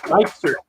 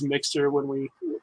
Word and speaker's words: Myxter: I noticed how you didn't dare try to pronounce my last name of Myxter because everybody screws it up. Myxter. Yeah. We went over it earlier. Obviously, just like everybody else, I thought it was Myxter when I first.